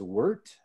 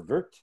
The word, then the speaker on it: wort: boil we refer to this sweet liquid as worked it's spelled wort but it's pronounced worked or vert and so what we're gonna do is boil